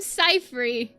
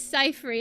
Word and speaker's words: Cyphere: How do you pronounce my name? I'm Cyphere. I'm My name is Cyphere.